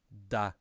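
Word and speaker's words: だ: on and so forth for we have ta ta if i add 10 to that it ends up as da da da and then here as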